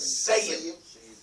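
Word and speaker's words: ثيب: So when you take the tha and put a sin, sayyib. It's not seen, but the difference is very subtle, and that's what I'm trying to understand, the difference between this and that.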